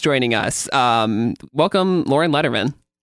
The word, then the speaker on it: Lederman: Um, welcome Lauren Letterman.